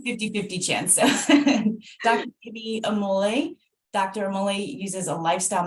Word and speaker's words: Omole: It's Omole, but lots of people say Omole, which is fine. I had a 50-50 chance. So Dr. Ibby Omole.